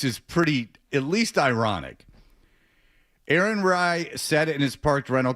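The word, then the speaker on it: Aaron Rai: What's the guy's How do you pronounce the guy's name that won it? Ry. Aaron Ry.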